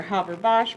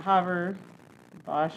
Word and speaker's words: Haber-Bosch: Yeah, that Haber-Bosch, I think. Yeah, I think it's the Haber-Bosch process. At least that's how I've heard it pronounced.